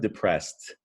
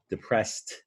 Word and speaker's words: depressed: color them green because if you listen to the word depressed depressed it makes a tea that D makes a tea and sometimes when you add an e D to a root word it sounds like a tea so that's just one